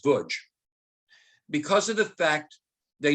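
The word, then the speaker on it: Łódź: don't know about the lodge ghetto it's actually pronounced butch because of the fact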